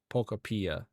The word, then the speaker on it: Pokopia: Yeah, I think actually they said it is pronounced Pokopia.